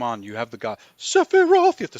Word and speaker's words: Sephiroth: Sephiroth.